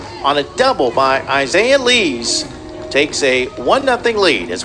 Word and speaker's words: Lees: On the play, Lies moves to third, and there's 2 away. Lees, excuse me. Lees, my apologies. Spelled like Lies, but pronounced Lees.